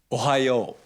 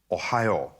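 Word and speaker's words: おはよう: How do I pronounce good morning? Ohayo. Ohayo.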